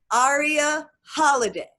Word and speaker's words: Aria Halliday: Aria Holiday, that is her name, that is how we pronounce it. Dr. Aria Holiday is the woman who created that program.